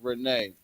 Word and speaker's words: Renee: She said my name is pronounced Renee.